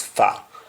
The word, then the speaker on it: fa: as well mean for because we have f o r that o will change to a and it will be pronounced as far and we shall have